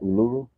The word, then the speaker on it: Uluru: my password did I say it right Uluru yep and I'm coming down there with my